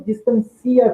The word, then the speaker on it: distancia: Então, note que a posição da sílaba tônica na palavra, ela altera tanto a acentuação, a posição da acentuação, né, dos acentos, como a sua classe gramatical. Distância, substantivo, distancia, verbo.